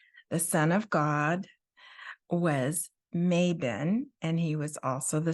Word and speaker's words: Mabon: Well, now you've been hearing me say it, Mabon. So imagine May Day, and then instead of the O sound, it's bin, Mabon.